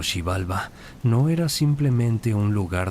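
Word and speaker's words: Xibalba: El inframundo llamado Shibalba, pronunciado Shibalba, no era simplemente un lugar de castigo para los muertos como el infierno cristiano.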